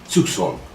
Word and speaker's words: Zugzwang: Это слово происходит от немецкого Это слово происходит от немецкого и означает 'принуждение к движению', и по-немецки оно произносится zugzwang.